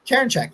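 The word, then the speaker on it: Karinchak: name somebody say it like think of Karen you know and I check herbs and then write a check Karen okay Karen Jack there we go dude listen listen straw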